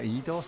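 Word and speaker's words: Eidos: and fire so this game was made by idos is that how you pronounce it yeah idos idos yeah um they're still going aren't they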